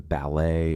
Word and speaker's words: ballet: Pronunciation varies significantly, influenced by regional accents and borrowed words, where the T is sometimes silent, as in ballet or gourmet from French.